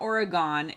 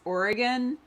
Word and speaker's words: Oregon: it's it's not oregon it's oregon like would you like me to kill you with a knife or a gun yeah it's a very